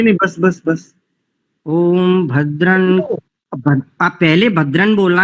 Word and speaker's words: भद्रं: आपने अशुद्ध किया है पहले भद्र नहीं करेंगे भद्रन का वर्ग का अंतिम अक्षर भद्रं करने विश्रण याम